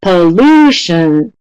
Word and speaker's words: pollution: Pollution, da. So absolutely correct at B. Most of you have guessed that. B. Yep, there we've got 100%. All right, da. So middle consonant, middle syllable is stressed.